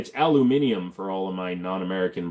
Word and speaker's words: aluminum: So aluminum is actually the right way to pronounce it.